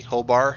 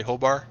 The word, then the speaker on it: Hobart: see hobart do you not do you not pronounce the t whole bar you just say hobart okay at hobart hobart traffic seneca 11816 is